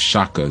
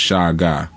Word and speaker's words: Shaka: who I'm talking about many refer to him as Shaka Zulu but his name was actually pronounced Shaga Shaga Zulu all right and Shaga